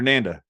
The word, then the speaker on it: Nanda: that I know it's Dr Nanda rhymes with panda that's what she told